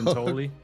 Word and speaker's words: Giuntoli: was his, how do you pronounce his last name? Neil Giuntoli. I almost say Giuntoli. There we go. Giuntoli.